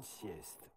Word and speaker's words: sieste: Oh, the T is still pronounced. It, you know, it's not a silent T. It's not a silent T. It's, yeah. Listen carefully. L'après-midi, je fais une sieste.